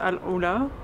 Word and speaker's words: AlUla: Après 5 longues heures de route, monotone, presque 400 km tout droit, on est enfin arrivé à Al-Oula, qui se prononce Al-Oula, et qui est, je